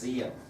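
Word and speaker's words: Diệm: Now, although it's spelled with a D, it's pronounced Diem.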